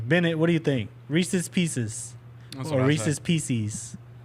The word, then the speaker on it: Reese's Pieces: Maybe this will have people pronounce Reese's Pieces correctly and not PCs.